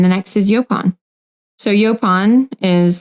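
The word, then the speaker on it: yaupon: um and then the next is yopon so yopon is spelled y-a-u-p-o-n um and this is a native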